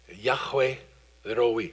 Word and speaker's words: Yahweh Roi: Yahweh Roi.